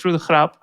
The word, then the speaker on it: Rudeegraap: So it's Rudeegraap because this is Dutch, as everybody knows.